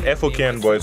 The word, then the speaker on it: FOKN Bois: And it's by indie artists, because F-O-K-N Boys, who are Ghanaians, Mensa and Kubolo, individually artists, but together F-O-K-N Boys, they are indie artists.